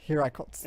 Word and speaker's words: Hiraikotsu: and inherited the Hirikotsu, I think, from his mother. Hiraikotsu Hirikotsu.